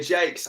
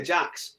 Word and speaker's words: Jakes: learning process to me Peter Jakes I always want to say Peter Jax because I've got a mate who yeah has his name spelled like that but pronounces it Jax you see so Peter Jake that's another one greates